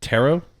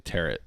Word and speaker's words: tarot: And then Ashley, particularly with is it tarot? Yeah, Okay, I always want to say tarot, like carrot.